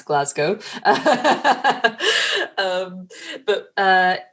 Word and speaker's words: Glasgow: also for any Americans that is how you pronounce Glasgow um but uh it's all about helping people